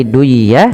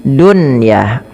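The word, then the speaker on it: دنيا: Maka bukan lagi duyah tapi bacanya dunyah.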